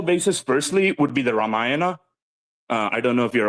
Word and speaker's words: Ramayana: Is that how you pronounce that? Yeah, Ramayana.